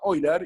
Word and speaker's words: Euler: Entonces, esto es algo, no sé si les suena el nombre de Euler, en alemán se pronuncia Euler, y es uno de